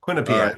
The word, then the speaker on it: Quinnipiac: Give me the pronunciation. Phonics with Paul. Quinnipiac.